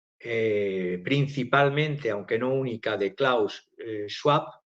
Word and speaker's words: Klaus Schwab: aunque no única, de Klaus Schwab o Klaus Schwab, si lo pronunciamos a la alemana.